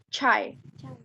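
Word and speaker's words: çay: C, bacanya seperti C yang ada di kita. C. Chai.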